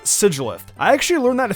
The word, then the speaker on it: Sigilyph: Sigilyph is actually pronounced Sigilyph.